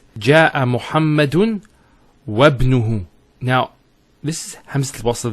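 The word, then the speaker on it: وابنه: we're actually reciting it, we don't pronounce this Hamza. We go straight to the ba. So it's wabnuhu. It's not wa ibnuhu, it's wabnuhu. It's like it joins the waw to the word ibn.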